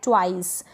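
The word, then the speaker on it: twice: क्या है, ट्वाइस। यहाँ TW को ट्व करके पढ़ा जा रहा है, ठीक है, ट्व, और इस I को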